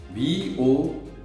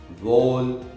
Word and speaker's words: vowel: People usually pronounce this word vol, vowel, vol this way. But in my case, if I want to pronounce this word, I would say vowel, vowel, right? And if you can check in Google, you'll get the right pronunciation of this word, right?